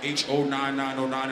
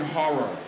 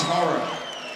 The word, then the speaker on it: Ho99o9: and it says like H-O-9909 and they can't fucking pronounce it, it's fucking horror. It's horror. It's not Ho-99, it's not Hogog, it's none of that shit.